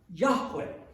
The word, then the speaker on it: Yahweh: of which is that there's no J sound in Hebrew which makes it doubly